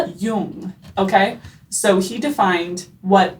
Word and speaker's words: Jung: Pronounced Yung, not Y, please. I've said it young until this exact moment. Yung.